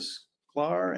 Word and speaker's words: Sklar: The petitioner is Donald and Lisa Sklar and for Carey Place LLC. Did I pronounce that Sclair.